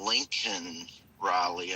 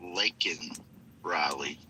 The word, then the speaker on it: Laken Riley: So, what do you think about the president saying Lincoln Riley and not Laken Riley? About him getting the name wrong?